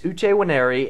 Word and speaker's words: Nwaneri: You butcher it, Uche Nwaneri. How do you say that? Is that an N, W? What is that new? But it's Uche Nwaneri, and he signs for 5 years, $24 million.